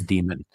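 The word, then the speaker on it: daemon: and and that the the the a and the e are actually one letter. It just gets translated like that in English spelling but it is demon.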